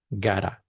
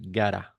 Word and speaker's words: got to: I've gota gota this got to especially in American English is pronounced like gota like this.